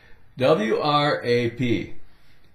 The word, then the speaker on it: wrap: W-R-A-P. Take away the W. Wrap. R-A-P. R-A-P. Wrap.